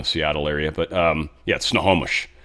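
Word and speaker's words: Snohomish: Sort of more in the Seattle area, but um yeah, snowomish, not snowish. Uh but yeah, snowomish.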